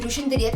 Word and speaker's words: Rushine de Reuck: So the next person on the list is Rushine de Reuck.